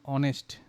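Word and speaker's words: honest: আমাদের উচ্চারণটা যদি এই ভাওয়েলের মতো হয়, মানে সাউন্ড আর কি, যেমন অনেস্ট, তাই না? যদিও এইচ দিয়ে শুরু হয় আর কি, কিন্তু উচ্চারণটা অনেস্ট ওর মতো, তখন কিন্তু মানে এই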